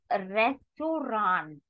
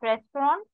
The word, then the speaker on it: Restaurant: Moving further, that restaurant. What do we say restaurant? It is not restaurant. Spelling is again same. Pronunciation, you need to take care. Das Restaurant.